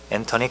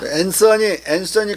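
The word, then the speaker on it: Anthony: 앤서니 콜린스라고 읽으면 안 돼요. 영국으로는 앤터니라고 해야 되고, 미국에서도 앤터니라고 발음하는 게 거의 80~90%야. 어쩌다가 앤서니라고 하는 사람이 있는데 잘 들어보지는 못했고, 다 앤터니라고 T로 써야 돼.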